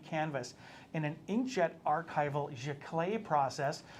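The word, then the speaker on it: giclée: inkjet archival jaclay process she clay's just a fancy french word uh to mean our archival inkjet process there where we're gonna spray that on g-i-c-l-e-e with an accent on the first e so when we have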